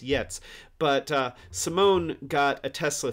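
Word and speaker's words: Giertz: saying that right yet cuz it's spelled Gertz but i I think it's pronounced yets but Simone got a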